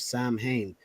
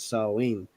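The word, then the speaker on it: Samhain: date back to the ancient Celtic Festival of Sam Hayne which is pronounced saline the salts who lived two thousand years ago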